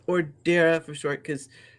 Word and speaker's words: Dara: chat my name is Darth or Dara for short because some people stay still say dar and I'm like it's a silent e at the end there's there's an e right there don't anyway I'd like